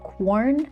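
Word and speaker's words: Quorn: There's this stuff called corn. It's spelled like q u o po r n.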